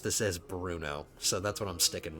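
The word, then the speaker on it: Brno: and Bruno in Berno. However, I when I did my Bohemian campaign, I just pronounced this as Bruno.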